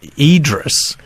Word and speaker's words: Idriess: Idis and that the name was always pronounced Idris and oh he worked